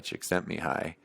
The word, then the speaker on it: Csikszentmihalyi: And I still haven't read that book, Flow, by, I think you pronounce his name Mihai Csikszentmihalyi.